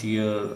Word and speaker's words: tier: uh three tier organization in system in some system in for administration purpose. So I think the word is clear to you. The pronunciation of the word is tier. Tear. Tear. This is tire.